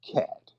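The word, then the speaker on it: khat: i want everybody to the drug k-h-a-t all right or something pronounced cat it's a drug over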